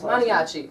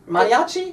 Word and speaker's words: Maniaci: Artin beautiful place here we are with manchi that's how you pronounce manchi manchi manchi good Italian name right manchi hey yeah